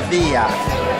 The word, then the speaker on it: Sevilla: 裡的地名很多人會讀 Sevilla，其實 LL 不發音的話呢應該是 Sevilla，就即是我